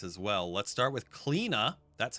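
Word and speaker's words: Cliodhna: Let's start with Kleena.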